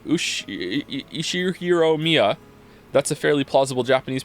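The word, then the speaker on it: Ushiromiya: you read it no the first part is my family name ushiro Mia that's a fairly plausible Japanese pronunciation so far thank you I I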